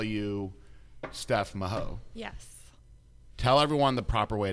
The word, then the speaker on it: Mahoe: consistently call you steph maho yes tell everyone the proper way to say your name it is mahoy like with a y on the end like chips ahoy chips away now the reason that